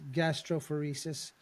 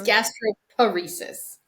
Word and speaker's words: gastroparesis: other side of this gastropharesis. Did I say it right? No. No. What? It's gastroparesis. Like paralysis paresis. So it's gastroparesis.